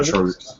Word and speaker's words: Trogix: Is that how you say his name? Yeah, Trogix.